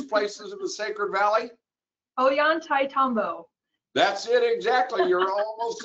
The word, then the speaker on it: Ollantaytambo: Ashley, you want to pronounce that, one of these places in the Sacred Valley? Ollantaytambo.